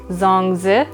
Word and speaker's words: zongzi: on jung is actually the cantonese way to pronounce it and it's also known in mandarin as zongzi it's also known as a chinese tamale yeah